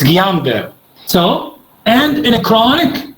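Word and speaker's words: Guillain-Barré: like in gulen berry syndrome all the correct pronunciation is guillain-barre not guillain-barre this is iraqi way guillain-barre it's guillain-barre so and in a chronic and inflammatory demyelinating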